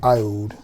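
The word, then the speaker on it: Aoud: This one is pronounced Ioud because it's got an A in front of it. A O U D.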